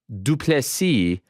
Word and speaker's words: du Plessis: Dricus Du Plessis. The S is silent, which I think is a tremendous line.